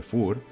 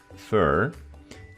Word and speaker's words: fur: pelaje, que se escribe fur, vemos como siempre que tenemos 2 pronunciations, American and British pronunciation. So American people say fur, and British people say fur.